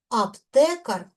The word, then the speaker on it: аптекар: До м'якої групи також належать іменники із ненаголошеними ар, ир. Аптекар аптекаря. Наголос падає на корінь.